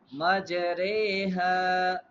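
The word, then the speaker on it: مَجْرٰىهَا: Ra, the ra of imala is pronounced re instead of v, so it's become majreha.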